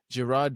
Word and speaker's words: Girard: Girard was yeah, Good he was pronunciation.